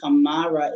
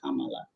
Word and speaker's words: Kamara: But the name Kamara is actually Kamala.